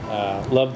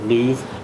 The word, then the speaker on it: Love: In the English-speaking world, we might say Love Giger because it's spelt that way, L-O-V-E, but the Swedish pronounce it Loove.